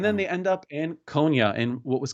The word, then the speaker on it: Konya: And this particular Konya, is that how we're pronouncing it?